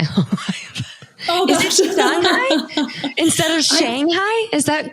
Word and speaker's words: Shanghai: So I'm very sad that most people won't get to ride it here unless they go to Shanghai.